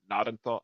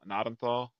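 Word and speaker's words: Gnadenthal: Uh, Manitoba, it's called Nadenthal. Nadenthal Na Nadenthal Nenthal Manitoba. Starts with a G. G N A D N T H A L. Google says you the G is silent.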